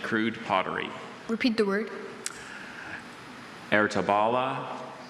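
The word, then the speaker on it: Ertebolle: Ertabala, Ertabala, Ertabula. Wait, just repeat all the pronunciations one more time.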